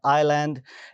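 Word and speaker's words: island: अंदर के साइलेंट है आईलैंड इसके अंदर अगेन एस साइलेंट है म मॉर्टगेज इसमें अगेन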